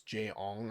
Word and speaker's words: Jay Ong: Marvel and the guy he J O N G I can't pronounce his name. It's Jay Ong, I want to say.